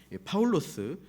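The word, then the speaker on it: Παῦλος: 이 본문 1절에 나오는 이름을 원어 발음, 헬라 발음으로 읽으면 파울로스, 실루아노스, 티모데오스라고 있습니다.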